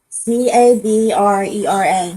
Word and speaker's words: Cabrera: C A B R E R A C A B R E R A E R A S Pronounce that.